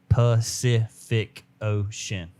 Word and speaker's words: Pacific Ocean: Every C in the word Pacific Ocean said differently. Pacific Ocean. So every C. Every C is pronounced different. Sit and K. Okay. Ocean.